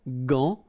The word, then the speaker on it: gant: But in that case, you've got this an, so it's nasal, gant, and then final T is not pronounced here.